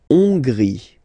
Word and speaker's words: Hongrie: La Hongrie. So remember, H doesn't exist, so you don't pronounce it. So it starts with O-N, on, and then gris. Final E, not pronounced.